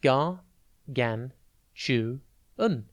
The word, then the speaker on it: gargantuan: Today's word is gargantuan. It is pronounced gar-gan-chu-un, and it is spelt Gargantuan. Think gar, then gan, then tu, and then an.